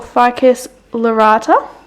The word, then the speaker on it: Ficus lyrata: Then I've got a baby fiddly fig, or Ficus lyrata, I believe is how you say it.